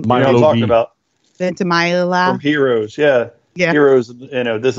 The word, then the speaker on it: Ventimiglia: do is look at the scene with Milo Villa-Majiga. Like, how do you say his last name? I have no idea. You know what I'm talking about? Ventimiglia.